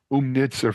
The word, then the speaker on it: Oomnitza: to get it out of the way now umnitza for those of you out there it's spelled o o o mni t Za and